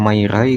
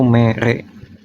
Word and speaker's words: mere: Kayak gini misal ini mere, walaupun kita bacanya kayak mairai kan, tapi kan nggak ada kosakata di bahasa Sunda bunyi mairai. Pasti kemungkinan mendekatinya yaitu mere.